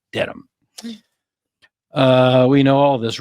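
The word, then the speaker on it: Dedham: trial in norfol County Superior Court in beautiful dead Ham Massachusetts no that's how Outsiders pronounce it it's not dead ham it's deam uh we know all this Reed 45 is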